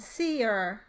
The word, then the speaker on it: seer: In this case, you need a way of distinguishing between the one and two syllable versions, such as seer, S-E-R-E, meaning dry, and seer, a two-syllable word, meaning someone who can predict the future.